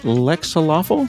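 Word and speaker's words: Lexaloffle: He created the PICO-8, living in Japan and working at Lexalawful. Did I pronounce that correctly?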